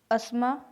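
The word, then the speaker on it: asthma: इसके बाद देखिए इसमें भी कुछ कॉमन रैंडम वर्ड्स हैं जहाँ टी साइलेंट रहता है। जैसे अस्मा, अस्मा जानते हो आप दमे को बोलते हैं।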